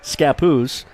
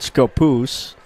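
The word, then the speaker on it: Scappoose: chilin and scapo SC SC I've heard it pronounced many different ways but it's scapoose not scapoose uh there are if you don't know don't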